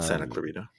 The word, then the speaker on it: Santa Clarita: spin on Santa Clara you are one syllable off dude is it not Santa CL no it was but you would said Santa CLA oh okay okay Santa CLA clita no Santa Clarita but like them immediately